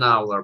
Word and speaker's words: hour: Ну, только не hour, а an hour, потому что у нас здесь не используется, у нас не читается h, она у нас просто пропускается, поэтому an hour.